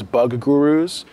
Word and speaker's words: Buguroo: end of the report turns out they call themselves bug gurus so it's you think of that it's easy to pronounce but they put together